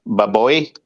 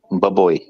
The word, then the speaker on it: baboy: because when I said baboy bad boy how do you say it Emily baboy baboy no you you say like not too fast like bubbly like that boy you were saying it